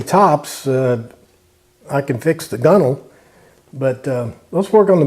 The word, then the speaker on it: gunwale: It's that's how it's spelled, Gunwale, but it's pronounced gunnel. All right, I don't know anything about fixing Bimini tops. I can fix the gunnel, but let's work on